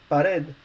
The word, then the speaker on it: pared: Words ending in consonants by a consonant which is not N or S are stressed on the vowel from the last syllable. We have example there, like for example, pared, which is feminine and means wall, and decid, which is the imperative form of say.